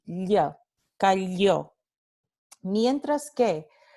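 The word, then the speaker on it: calló: Esta primera palabra, cayó, significa he or she remained quiet, or he or she shut up, ¿no? Y se pronunciaría y se pronuncia con este fonema aquí, ya, cayó.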